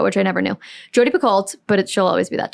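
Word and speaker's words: Picoult: think I saw a tick tock of Jody bacolt but actually it's apparently pronounced Pico which I never knew Jody picolt but she'll always be that to me sure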